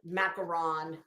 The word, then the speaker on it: macaron: Macaron is really how you say it.